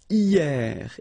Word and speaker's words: hier: And then the first one is hier. Hier means yesterday, okay? Hier. So remember, this H here is not pronounced, okay?